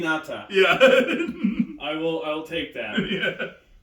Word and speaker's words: naginata: Nagiata or Nagi. I'll okay. The pronunciation might be a little off, but you know what I'm saying. You know what I'm saying. Naginata.